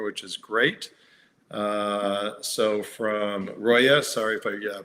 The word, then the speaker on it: Roya: Great question, and it's pronounced, who's, okay.